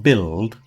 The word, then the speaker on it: build: Another one that was common this week is the U that's not pronounced in certain words like build.